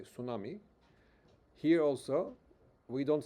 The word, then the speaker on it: tsunami: Uh so you don't uh pronounce t in tsunami. People say tsunami.